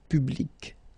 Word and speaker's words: public: So you can see that you get this final C and then you pronounce it, public. Okay, so you will have to change it. So you take it away and then you put this QUE instead. And well, phonetically, it is exactly the same thing.